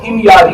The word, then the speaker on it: ہمیاری: کی تو میں نے دیکھا کہ اس کا صحیح پروناؤنس، صحیح تلفظ، صحیح مخرج جو ہے وہ ہمیاری ہے۔ ہمیری کرتے ہیں بہت سارے، میں نے بھی کئی بار ہمیری بولا، لیکن میرا تبا اول